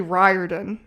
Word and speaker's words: Riordan: It's actually Riordan is how you pronounce his name. So, The Lightning Thief is book 1 out of 5 in the Percy Jackson and the Olympians series written by Rick Riordan.